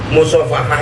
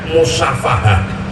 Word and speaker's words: musyafahah: di instansi pemerintahan itu terkadang keliru menyebutnya musofahah itu dibacanya disebutkannya musyafahah saya itu sampai kuatir